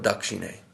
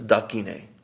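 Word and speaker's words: দক্ষিণে: Same with this word Dakshine. It's an S after a K. So it's Dakine.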